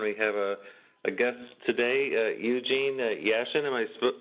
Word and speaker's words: Eugene Yashin: Jim Riggio and we have a guest today Eugene Yashin am I pronouncing that correctly yes okay but yeah well